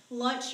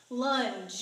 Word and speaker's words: lunge: stepped on to lunge everybody thinks I always take lunch like lunch you're eating the sandwich now lunge it with G on the end soft G all right here we